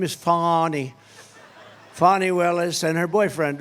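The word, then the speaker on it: Fani: Willis you know about fonnie Willis right has anybody fonnie it's pronounced fonnie F A ni I that's Fanny but she likes it fonny when she became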